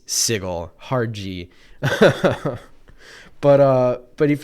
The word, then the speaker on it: Sigil: is spelled sigil in fact it should be pronounced sigil but no it's sigle hard but uh but if you if you